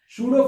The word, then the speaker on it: pseudo: तो तो देखो सूडो फर्स्ट ऑर्डर में क्या करेंगे ठीक है, सूडो फर्स्ट ऑर्डर रिएक्शन अब ये सूडो फर्स्ट ऑर्डर रिएक्शन, इसमें पी साइलेंट होता है ना।